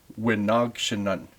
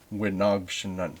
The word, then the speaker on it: wi-naagshinan: this is what happens, that M turns to an N. I don't know why. No idea. I don't know enough about the language, but it does. Wi-naagshinan. Wi-naagshinan.